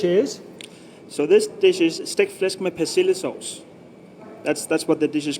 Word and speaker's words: stegt flæsk med persillesauce: So this dish is stegt flæsk med persillesauce. That's what the dish is called, and it just means belly pork with parsley sauce. So the pronunciation? So pronunciation stegt flæsk med persillesauce.